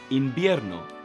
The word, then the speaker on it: invierno: So winter in Spanish is invierno. Invierno. That V is pronounced like a B.